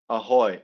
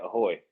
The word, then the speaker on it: ahoj: Beer, please, Yeah, and like, and what hi, do hi, how, hi is people say ciao or they say ahoy, AHOJ. J's are like like pronounced ahoy as Y's.